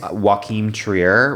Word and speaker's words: Joachim Trier: Joachim Trier, right? That's how you pronounce it.